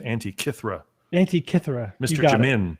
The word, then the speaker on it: Antikythera: They're saying Antikythera is how it's pronounced. Yes, maybe Antikythera. Okay. Antikythera. Someone, Mr. Jammin says it's pronounced Antikythera.